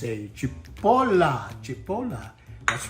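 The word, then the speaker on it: cipolla: chopped red onion and in Italian it's a Chipola Chipola that's right and uh in Italian it's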